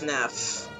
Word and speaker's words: Neff: instance i gotta remember it's Neff it's like one letter off from nerf and this is some